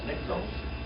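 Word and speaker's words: νυκτός: That's niktos.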